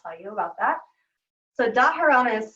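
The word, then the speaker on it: dharana: and then from there we go in to daharana daharana is a sixth limb and that means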